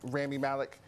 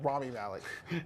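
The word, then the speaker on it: Rami Malek: like uh uh uh Ramy mik I hope I pronounce his name right as Ramy Mal Ramy Malik it's hard Ramy Malik I forgot it sounds like a ramen noodle flavor I'll have the Ramy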